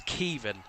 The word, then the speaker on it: Caoimhan: It's Kivin. Uh Uh Kivin uh is the pronunciation.